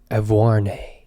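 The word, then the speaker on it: Auvergne: Evarne.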